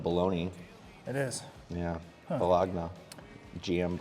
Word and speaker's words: Bologna: Well, the last part of that is spelled like bologna.